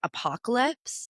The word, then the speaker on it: Apo.Ha-Ha.calypse: So it's basically like you're saying apocalypse, but you're just smushing haha in the middle.